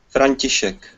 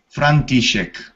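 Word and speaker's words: František: I believe it is frantisek I'm not sure I am pronouncing that correctly it was him yes thank you may express the correct way of communicating your name Frankie shake Franky chic well confronting shake do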